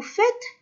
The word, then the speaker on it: faites: إذا vous faites vos devoirs. vous faites. إذا شوفوا كي نطقوا fait AI ينطق كA.